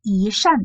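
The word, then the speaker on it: 一扇: Et après 一扇窗, 扇 c'est quatrième ton. Donc là il va changer, c'est 一扇窗.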